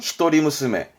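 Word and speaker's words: 一人娘: 발음은 히토리무스메.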